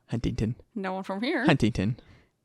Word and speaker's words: Huntington: The accent is that we don't pronounce our T's, right? Yeah. So like Huntington Beach. Who says Huntington?